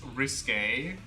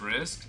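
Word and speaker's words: risqué: Okay, how do you pronounce this one? Is it risque? I mean, this one says rescue. Risque. It's kind of like risky, but it's like none of the above, actually.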